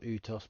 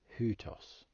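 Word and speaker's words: οὗτος: vowel of the two for example hutos not pronounced utos but hutos meaning this one breathing sounds come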